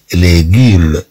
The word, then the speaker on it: légumes: أو نقول لي ليغيم. إذا هاد إس كما عندنا هنا أيضا أنها تنطق كهاد إي، تنطق كـ أو أكسون إيغي، وهذا رأيناه فيما سبق.